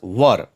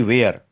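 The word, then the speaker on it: were: इज, एम, आर, वाज, वर। वर पढ़ते हैं ना कि वेयर। कुछ लोग गलत प्रोनाउंसिएशन करते हैं, वेयर पढ़ते हैं, वर पढ़ते हैं।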